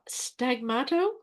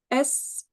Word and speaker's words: sfumato: I'm afraid Stagmato. Sfumato. Oh, fumato, sfumato. There we go.